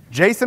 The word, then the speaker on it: JSON: Jason or JSON? Jason, it's Jason. Who said JSON? The A is implied.